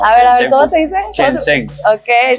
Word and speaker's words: Shenzhen: Shenzhen. Ok, Shenzhen.